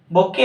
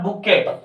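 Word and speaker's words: bouquet: Next, it इज अ बुके of flowers, not बुकेट. This is the wrong pronunciation, बुके, T silent रहेगा, ठीक है ना।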